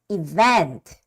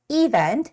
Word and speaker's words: event: often and the words event a lot of Koreans think this word to be said as event but no the stress has to come on the second e which is Event Event Event right I